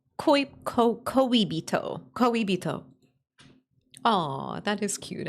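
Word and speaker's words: 恋人: But how do I pronounce it? Koibito. Koibito.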